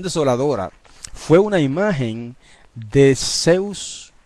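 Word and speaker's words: Ζεύς: Y que en español se escribe Z-E-U-S y la gente lo lee Zeus, pero en griego se lee Zeus.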